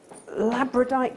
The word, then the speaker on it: labradorite: what labyrinth okay so labradorite first the the only reason that I can remember how to say it easier because it reminds me of Labradors and anybody that knows